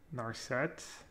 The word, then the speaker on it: Narset: the way gap pronounces narcette is triggering me what nurse sets i don't get it you emphasize the set instead of the gnar nor set nor said i